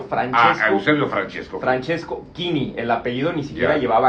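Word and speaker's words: Chini: Francesco Kini, el apellido ni siquiera llevaba acá porque ya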